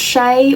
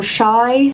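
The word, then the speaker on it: Shai: I don't think I saw her but I saw all of them except from I think her name is pronounced Shay or Shy but spelled s h a i if that makes sense.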